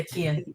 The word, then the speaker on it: Kian: It's Kian, right? I'm always worried about mispronouncing that now. Yeah, Kian, you got it.